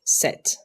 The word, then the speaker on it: sept: The P is silent, so just say it like sept.